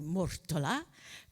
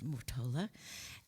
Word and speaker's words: Mortola: You would pronounce it properly Mortola, but in America I was always called Mortola.